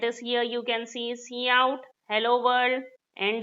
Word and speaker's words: cout: Cout is pronounced as cout, cin is pronounced as cin.